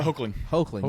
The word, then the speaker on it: Hoechlin: How do we pronounce the last? Tyler Hoechlin.